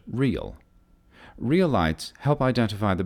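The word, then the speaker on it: REIL: runway and identifier lights the acronym is re il pronounced like the word real real lights help identify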